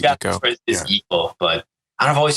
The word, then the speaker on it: Ico: For people that are wondering, like, people do call it all different ways, but the 100% correct way to say it is Eco. Is Eco, but I've always just said Ico.